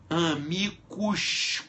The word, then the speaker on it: amicus: Amicus curiae. Se escreve A-M-I-C-U-S, amicus Ah, isso aí fica até estranho, né?